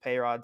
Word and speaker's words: Payrod: fan of them and a-rod rhymes with pay rod so i just adapted